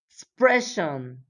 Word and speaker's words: expression: The stress, la mayor fuerza de voz, the stress is always on the syllable before them.